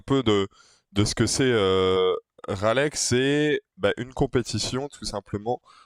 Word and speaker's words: Raleigh: Ça se prononce Raleigh. Raleigh, ok.